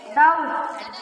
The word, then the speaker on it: doubt: DOUBT, doubt. Silent letter B.